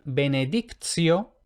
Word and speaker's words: benedictio: Ahora bien, cuando lo que tenemos es TI y otra vocal, entonces la T se pronuncia como ts. Entonces vemos que teníamos benedictus con T normal, pero en benedictio, TI más otra vocal,